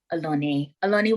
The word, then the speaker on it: Oloni: her podcast she is the one and only alani welcome hey hey joey thank you so much